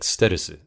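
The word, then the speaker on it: ステルス: And so I remember going and kind of quote pitching it to him, and in Japanese it would be pronounced like sterusu, and instead of stealth.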